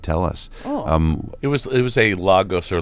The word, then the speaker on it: Lagos: It was a Lagos or Legos. Legos, yeah, Legos. Is it pronounced Legos?